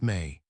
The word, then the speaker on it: me: In Sumerian texts, the Anunnaki possessed objects called the Mi, pronounced May.